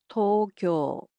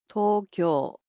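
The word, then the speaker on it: 東京: The capital of Japan, Tokyo, in Japanese is pronounced as Tokyo. Tokyo. So, it's similar to English except the O sounds in it are a bit longer.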